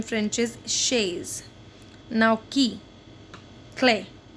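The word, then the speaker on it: clé: Now key, clay. Key in French is pronounced as clay. So correct spelling is C-L-E.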